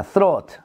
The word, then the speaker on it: throat: 자, throat. throat. throat. 번데기 발음이야.